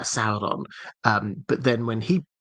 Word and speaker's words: Sauron: will find it uh as in sa as in the English word sour uh Sauron.